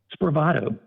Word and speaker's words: Spravato: How do you pronounce that? Spravato, SPRAVATO.